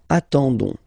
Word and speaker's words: attendons: nous, so O-N-S, okay, you don't pronounce the S, so you get only this on sound, okay. Attendons, nous attendons, so we'll make the link between the two, la liaison.